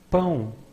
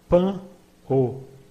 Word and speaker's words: pão: Pão, it means bread. We could expect that the pronunciation would be pan o, but in everyday language it becomes pão, pão.